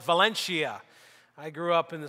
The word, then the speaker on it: Valencia: small borough of valencia i know that a good pronunciation of that place in spain is valencia but here in western pennsylvania we called it valencia i grew up in